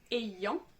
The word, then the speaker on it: ayant: pas non plus) : ayant qui se prononce [e] : Et savoir : sachant.